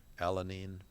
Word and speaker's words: alanine: Alanine is the way you pronounce that.